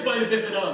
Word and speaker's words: spina bifida: Now it's pronounced spina bifida.